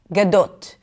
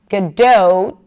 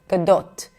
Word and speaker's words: Gadot: This is why most people pronounce it as 'Gadowt'. But in Hebrew it's a pure O, O.